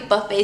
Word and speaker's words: Buffet: the ordinary buffett buffet serum i like to pronounce it buff it because it's like i also think it's buffing my skin but it's pronounced the buffet serum by the ordinary one of my favorites